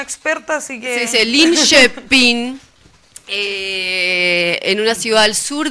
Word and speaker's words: Linköping: No, yo no lo quise pronunciar porque tenemos una experta, así que... Se dice Linköping, En una ciudad al sur de Estocolmo.